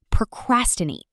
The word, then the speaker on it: procrastinate: Next, procrastinate. Pro-cras-ti-nate. Stress on cras.